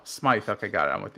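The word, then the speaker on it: Smythe: I thought it was I thought it was SMI because it's spelled SM SM y t h e oh Smite okay got it I'm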